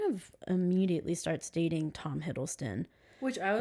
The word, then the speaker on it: Hiddleston: All right, now we have Tom Huddleston. It's supposed to be Hiddleston. Tom Hiddleston. I spelled his name wrong, my bad.